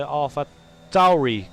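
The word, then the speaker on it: AlphaTauri: And this is some teamwork between the Alpha Tauri cars. I said it right, Big Buggy. I said it right. Alpha Tauri. Tauri. With a T.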